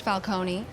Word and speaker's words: Falcone: It's pronounced Falcone, and it sounds like it's Italian.